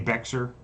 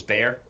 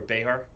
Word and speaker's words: Bexar: oh did i say bexer yeah well it reads bexer b-e-x-a-r but for some reason the x is pronounced as an a so it's bear bear or behar well he was released